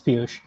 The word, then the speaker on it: Piyush: Piyush, if I pronounce this correctly. Yeah, Richie. It's Piyush.